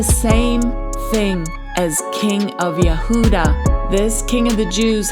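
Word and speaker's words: יהודה: And in the blue letter Bible, that word Yehuda for Judah is H3063. And it's pronounced Yahudah.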